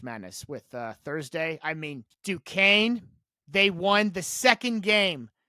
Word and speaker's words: Duquesne: That's how you pronounce it. Duquesne.